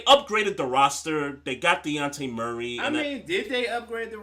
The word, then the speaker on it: Dejounte: They got Dejounte Murray.